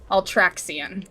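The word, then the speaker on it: Ultraxion: Ultraxian.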